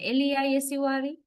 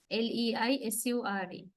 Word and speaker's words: leisure: Weight means we are voicing. We voice sh sound. Then it is pronounced as not as sh. It is pronounced as j.